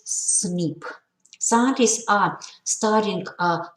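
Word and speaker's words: SNP: a single nucleotide polymorphism or cnp pronounces snip scientists are studying uh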